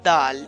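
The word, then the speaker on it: دال: basic letter of the Holy Quran which is DAL so you can see in this page this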